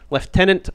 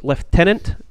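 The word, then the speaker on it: lieutenant: goes fand and Morales leftenant Morales notice how I pronounced that was leftenant because that is in fact the correct British pronunciation what about the GIC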